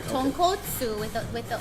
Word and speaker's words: tonkotsu: This is the tonkotsu broth, which is Okay.